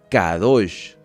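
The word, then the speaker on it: קדוש: La palabra santo en hebreo se pronuncia cadosh.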